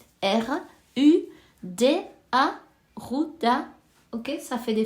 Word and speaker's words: Ruda: bain avec cette fameuse Rouda qui ça ça s'écrit r u da Ruda ok ça fait des fleurs jaunes si